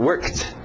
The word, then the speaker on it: worked: Então aqui work, worked. Só o som de um T.